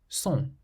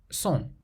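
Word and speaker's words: sont: Son. Son. How would you pronounce the seventh word, which means orange?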